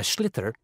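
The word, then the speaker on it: sliotar: this ball called a schlitter that's s-l-i-o-t-a-r so it's not spelled the way it's pronounced you his ears into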